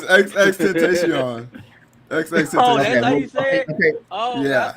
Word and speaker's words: XXXTentacion: It's XXXTentacion.